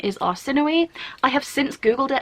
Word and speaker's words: Arsinoe: author pronounces it Arsino, which is like more of like a French pronunciation rather than like the original like Mediterranean Greek Arsinoe. The narrator in this pronounces it Arsinoe, which as a Brit sounds like arse annoy.